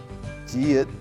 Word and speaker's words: 지읒: Now, 지읒 pronounced j together with O. 조.